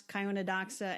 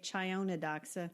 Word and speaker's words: Chionodoxa: 1,500 of them were crocuses and what's Gloria of the Snow, which I pronounce Chionodoxa, and I think you say Chionodoxa.